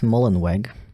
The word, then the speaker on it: Mullenweg: the CEO is named his name sounds really like German but he's American so I'm gonna pronounce it like an American a Matt mullenweg mullenwork uh he uh